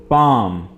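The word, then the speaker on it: palm: नना हैंड हाथ hand पाम यहां पर आपने एल को साइलेंट रखना है और यह वर्ड आपने पढ़ना है पाम हथेली बोन बोन हड्डी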